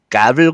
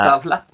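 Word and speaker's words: Gävle: The gavel goat. How do you say that? Gavel? Mhm. Gavla? Gavla. Okay. I think Is it's Gavla. Mhm. I Gavla. bet it is. Not gavel, like I was saying.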